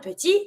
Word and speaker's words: petit: Pronunciation will change because if you take the word petit, it's finishing with the T. You're never going to pronounce a consonant in French that is not the R or the L. Here it's the T. It's not the R, it's not the L, so it's mute. So you say petit without pronouncing your T.